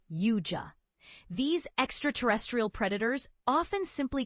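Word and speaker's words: Yautja: battle deadly alien hunters known as Yaoja, pronounced Yua.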